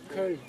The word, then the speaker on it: Köln: Köln.